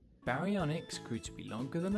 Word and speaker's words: baryonyx: barianics baryonyx x how do you say that again ba re on x baryonyx grew to be longer